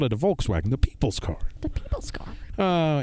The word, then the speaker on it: Volkswagen: but it's a Volkswagen not not like what Siri not a volts wagon with the volts but a Volkswagen you know a Volkswagen Ferdinand Porsche call it a Volkswagen the people's car uh